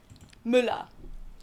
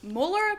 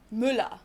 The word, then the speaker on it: Müller: Müller. Müller. No, not Muller, but Müller.